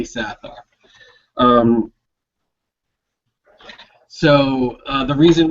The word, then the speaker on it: Sathar: the evil sathar and that's how we're pronouncing it sathar there's been a lot of controversy over the years as is it Saar or sathar we're going to say sathar um so uh the